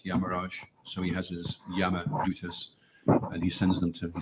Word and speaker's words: Yamadutas: Yamadutas. Yamadutas, yeah.